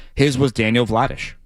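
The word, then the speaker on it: Vladař: Vladish is how he says it. That's how that's how you say it in Czech. Okay. Vladish.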